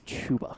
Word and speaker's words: Chuba: It is Chuba.